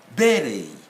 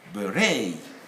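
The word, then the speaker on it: ballet: and by the way in the united kingdom we stress on the first syllable in the states on the second syllable where british will say berry american will say berei crochet crochet chalet because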